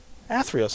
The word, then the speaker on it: Theros: and astrok and uh i think it's pronounced atheros i think atheros i got it right that's what intern rob